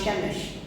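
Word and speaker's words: Przemyśl: is the train station in the city of shemish it's spelled p r z-y-m-s-l so you'll never know that it's pronounced shemish so this was this train station at Shemesh which is about 10 kilometers away from the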